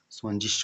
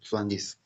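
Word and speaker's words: zwanzig: यहाँ पे ग है ना, ग, ग नहीं होगा, स्वांजिस होगा, श होगा, ठीक है, स्वांजिस। ये ग नहीं होगा, इसके जगह पे स होगा, ठीक है, तो स्वांजिस।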